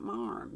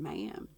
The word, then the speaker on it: ma'am: Not marm, ma'am.